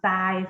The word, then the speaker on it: ทราย: ล่าง เป็น รอ เรือ ทร จะ ออก เสียง เป็น ซอ ทัน ที นะ คะ แต่ จะ